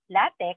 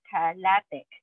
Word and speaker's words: LaTeX: okay so what is latex latex which is pronounced latic as have I've been saying it or latex okay it's a Document Preparation system for high